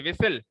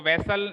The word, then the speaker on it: whistle: सीटी, बजाने वाली सीटी, विसल। वो वेसल नहीं होता, विसल होता है। उसकी स्पेलिंग होती है WHISTLE, विसल।